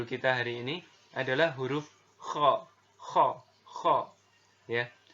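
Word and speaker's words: خ: Huruf kha ini dikeluarkan dari pangkal tenggorokan ya. Jadi diucapkan itu dengan mengalirkan nafas. Jadi ketika ngomong kha gitu, ada nafas di sana. Dan atau kalau mau lebih gampangnya gitu, pengucapan huruf kho ini persis terdengar seperti orang yang tidur dalam keadaan mendengkur gitu ya, atau ngorok gitu ya.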